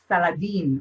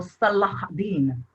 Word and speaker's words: Salahuddin: The representative, the main ruler of the Muslim was Saladin, or Salahuddin, as we say it right here.